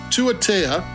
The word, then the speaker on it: Tuatea: They have a pronunciation thing in the bottom, and I keep on forgetting it. Tuatea.